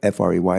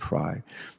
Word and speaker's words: Frey: A lot of people, F-R-E-Y, they pronounce it Fry, but he pronounces it Frey.